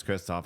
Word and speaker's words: Christoph: You can't even pronounce her name right. That's why I say Christoph. I don't say Christopher anymore.